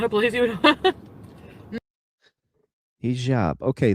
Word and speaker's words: hijab: Hijab. Okay, the soft J.